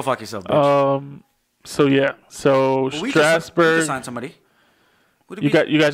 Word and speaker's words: Strasburg: Your Yankees have scheduled meetings with Cole and Strasburger?